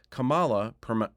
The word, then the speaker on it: Kamala: Dubbed the Royal Sapphire of India, Kamala, pronounced Kamala, is at the top of any young man's fantasy list.